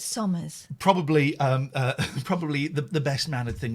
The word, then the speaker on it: Somers: So it's Somers. Probably the best mannered thing we could do. Somers Waste Solutions.